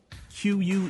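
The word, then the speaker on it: queue: something like that yeah is't that word really just the letter Q followed by four silent letters it really is when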